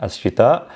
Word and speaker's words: الشتاء: And then we have, so with MSA, you have the ending due to the hamza, al-shita. And then in spoken, we're not really pronouncing this, we're just saying al-shita.